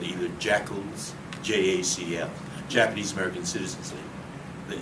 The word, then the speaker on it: JACL: people were called either jackals, JACL, Japanese American Citizens League. The initials JACL could be pronounced jackal when you pronounce that, or inu, the Japanese word for dog.